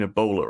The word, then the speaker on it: Ebola: aw it's sort of the B is pronounced in Ebola right it's like Ebola Bailey it's near alliteration and his max was live